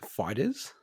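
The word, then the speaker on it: FighterZ: Dragon Ball Fighter Z is 85% off, so it's a huge discount. Isn't it pronounced fighters?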